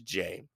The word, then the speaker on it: Jei: pronounces it J but the way it's spelled makes you think it's a little different but when you put